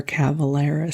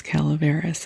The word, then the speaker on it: Calaveras: I do believe it is Calaveras, and I have been mispronouncing it, so if that annoys you, I am so sorry.